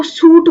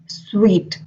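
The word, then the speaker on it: suite: Another word which confuses us a lot is जो hotel का room होता है इसको सूट बोले स्वीट बोले स्वीट बोले क्या बोले. सो the right pronunciation is स्वीट.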